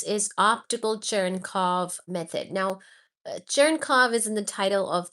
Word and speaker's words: Cherenkov: So first we'll look at um first we'll look at optical churnov neutrino detectors.